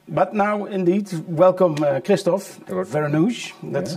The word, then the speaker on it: Vereenooghe: But now, indeed, welcome Kristof Vereenooghe. That's how you pronounce it in English.